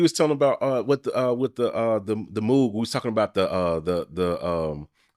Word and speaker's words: Moog: What was the thing you was telling about with the Moog?